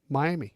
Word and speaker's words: Miami: In Oklahoma, it's Miami. Miami. Miami. That's Miami. not. It's not an A. No. It's an I. Well, it's an Indian tribe. Miami.